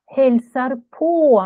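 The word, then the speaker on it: hälsar på: ударение не на Хельсар, не на передает привет, uh-huh. а на Хельсар по, на вот эту частицу.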